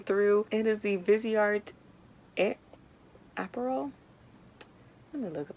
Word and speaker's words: Aperol: It is the Viseart Aperol. Let me look up how to pronounce it. I'm not trying to have y'all make fun of me. Aperol? Aperol. Aperol. Aperol. Aperol. Aperol. That's Aperol.